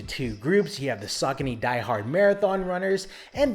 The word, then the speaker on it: Saucony: for starters it's pronounced saucony not saucony not succiny it's sock and e sock saucony it's an american brand